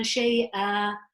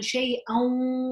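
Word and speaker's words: شَيْئًا: this as li nafsin shay'a. But if I chose to continue and I am allowed to, then I can say it as li nafsin shay'an wala. So here, if I was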